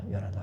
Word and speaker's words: 요나답: 여기서 그 여호나답이 다른 발음으로 요나답입니다. 요나답.